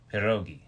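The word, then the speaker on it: pierogi: P now I can't even talk I uh perogi yes so uh I would say Christmas SE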